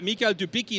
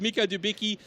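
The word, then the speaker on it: Mikhail Dubicki: to beat i mean mikhail dubiki now i have to apologize i've been pronouncing his name wrong for about 10 years so it's mika dubiki uh i sat outside for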